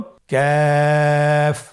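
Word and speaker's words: ك: কাফের মাখরাজ হলো জিহ্বার গোড়া থেকে একটু আগে বাড়িয়ে তার বরাবর উপরে তালির সঙ্গে লাগিয়ে উচ্চারিত হয়। তাহলে আমরা কফ যেখান থেকে উচ্চারণ করেছি একটু আগে বাড়িয়ে সেখান থেকে আমরা তার বরাবর উপরে তালের সঙ্গে লাগিয়ে হরফটি উচ্চারণ করব।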